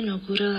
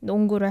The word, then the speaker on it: 농구: But I heard your pronunciation of 농구 was a bit like 농구 with the niun consonant. But it should be 농. Yeah, 농구. 농구 with the iun consonant, right?